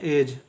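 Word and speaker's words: edge: एड ज नहीं पढ़ेंगे डी यहां पर भी साइलेंट होगा क्योंकि जी के पहले आ है इसको पढ़ेंगे जज ई डी जी ई का उच्चारण हम लोग करेंगे एज ठीक है इसका उच्चारण होगा एज एज का मतलब होता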